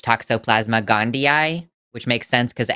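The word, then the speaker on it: Toxoplasma gondii: conservatives M Forest apparently was adamant that it's pronounced Toxoplasma gandia which makes sense CU it have two eyes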